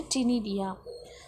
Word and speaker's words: ctenidia: C is a silent, we want to pronounce as in a ctenidia or lungs.